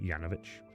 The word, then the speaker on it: Janovich: I spell it Janovich, by the way, but I say Yanovich.